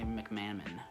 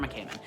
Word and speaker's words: McCammon: Is that how you say it? I always almost say McMahon. Okay, so it's Robert McCammon.